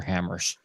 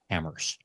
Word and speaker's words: HAMRS: There is no other logging software except for Hammers. That's spelled HAMRS. Hammers.